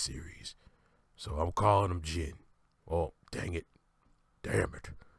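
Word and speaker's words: Zein: Return of com Rider Zen I know it's Comm Rider oh God excuse me I know it's Comm Rider Jin but it's spelled out Zen Z in and I like saying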